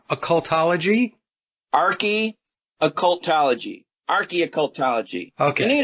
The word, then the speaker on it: occultology: Now, one of the things I wanted to get into, Richard, is, let me make sure I got this pronounced correctly, occultology?